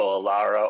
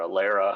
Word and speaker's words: ALARA: the meaning of aara so Alara or aera however you like to pronounce it you know tomato tomato um this is